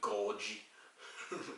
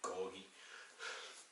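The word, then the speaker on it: Gorgie: went to Edinburgh and called the um one of the main stands of heart ground The Gorge Road and even it's actually goggy yeah I apologize but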